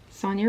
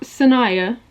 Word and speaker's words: Sonia: Sonia is my name. It's not Sanaya. A lot of people think it's Sanaya, which I can't blame you, but it's not. It's Sonia.